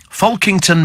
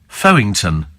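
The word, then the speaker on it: Folkington: Fiona or Fiona says Fulk kington Manor in Sussex is pronounced fton sounds even more bizarre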